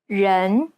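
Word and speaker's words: 人: red this is incorrect the chinese e sounds more like an ugg sound ren it's identical to the e sound at the end of the word problem in fact the chinese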